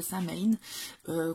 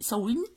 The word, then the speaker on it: Samhain: Vous connaissez probablement la fête de Samhain, qu'on prononce aussi Samhain.